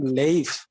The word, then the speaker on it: life: the time of chaucer the pronunciation of the word life was like leaf okay that was leaf l then e and f but when in the 16th and 17th century it become life okay now see here